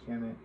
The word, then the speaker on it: Kemet: Ancient Egyptians referred to their homeland as Kemet, conventionally pronounced as Kemet.